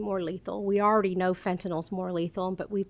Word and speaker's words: fentanyl: of the information I have been receiving regarding fennel how do you pronounce that fentanyl Fentanyl and there's another drug that's involved that's